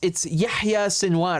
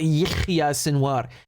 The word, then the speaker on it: Yahya Sinwar: It's Yahya Sinwar. It's not Yihya Sinwar.